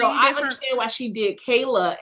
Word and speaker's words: Kyla: Like, oh my god, it's pronounced Kayla. But it is spelled like Kyla, so that is no one's fault.